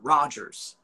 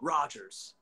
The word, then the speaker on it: Rogers: producer rogers it's like all right roger no he's like no rogers yeah everybody roger the mass yeah everybody gets his name wrong um i know they call him mason massen uh my son i was like just rogers man yeah just but raj